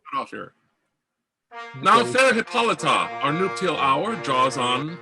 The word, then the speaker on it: Hippolyta: Hippolyta. Take two. Second syllable always.